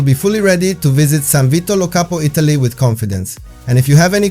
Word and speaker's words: San Vito Lo Capo: San Vito Lo Capo is pronounced exactly as it is written, but with a strong Italian accent. San Vito Lo Capo can be visited as